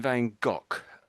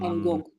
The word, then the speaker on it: Van Gogh: I say um you're saying Van Go. Um Van Go. Yeah. Say again. Wang. This is a tricky name to pronounce.